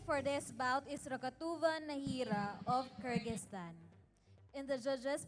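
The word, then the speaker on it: Nazira: the sport it's interesting her name is spelled n a z i r a and then it's actually pronounced as nahira n round one and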